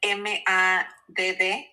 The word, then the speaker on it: MADD: Sus insignias son MADD, que se pronuncia MAD.